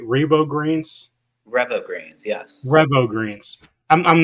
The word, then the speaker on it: Revo Greens: So first off, let's talk about your Revo Greens. Am I pronouncing that right? Revo Greens? Revo Greens, yes.